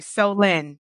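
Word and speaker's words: Solène: SOL Solen so look there's actually a part in the book where he PR says how to pronounce her name and he's like oh so you mean so lend me some money like that's right like yeah so L okay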